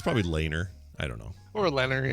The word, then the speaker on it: Lehner: It's probably Lehner. I don't know. Or Leonard, yeah. Leonard, yeah. The H. It's like Lehrer, McNeil Lehrer. Oh yeah. You don't pronounce the H.